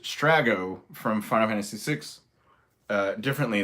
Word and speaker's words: Strago: And so this person was like, oh, it's pronounced, okay, Strago, by the way. This is all stuff I already knew, try harder. And I put Strago, actually Stragus, but in the US we got Strago.